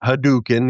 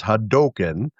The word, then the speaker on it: Hadoken: I've heard people say, you know, tomato tomato, but they said it's pronounced Ryu and it's not haduken. It's Hadoken and Oh, okay.